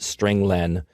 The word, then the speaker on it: strlen: appears at line nine i pronounce it string len because it means string length it returns the number